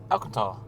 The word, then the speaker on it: Alcantara: And how do you pronounce this? Alcantara trim? Alcantara.